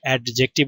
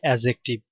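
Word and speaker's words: adjective: verb adverb এবং অ্যাজেক্টিভ অনেকে এটাকে অ্যাডজেক্টিভ উচ্চারণ করে সঠিক উচ্চারণ হবে অ্যাজেক্টিভ তো ভার্ব মানে হচ্ছে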